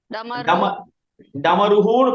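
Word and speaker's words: डमरुः: ஆமா, ரூவோட வந்தா ருஹு. ருஹு, டமரு. டமருன்னு படிக்குமா? டமருஹுன்னு படிக்கணும். டமருஹு.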